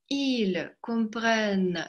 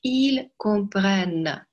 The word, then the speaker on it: comprennent: Обратите внимание, в единственном числе там носовой comprend, il comprend. А в множественном там четко произносится N. Ils comprennent. Послушайте разницу. Ils comprennent. Ils comprennent. Чтобы произнести хорошо N, вы языком на верхнюю часть неба вот так резко нажимаете. Comprennent. Она должна быть звонкая.